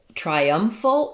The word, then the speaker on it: triumphal: Um, triumphal is going to be stressed on the um syllable. Um, the letter I, it's like in triangle. It has the try, the i dip thong.